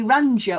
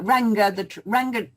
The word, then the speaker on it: Ranga: Well, it could be Ranga or Ranga. Ranga. It's Ranga because of the ginger hair.